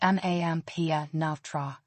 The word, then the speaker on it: Mampianatra: MP, pronounced as one sound, starting with Example: Mampianatra, to teach, is pronounced mampia navtra.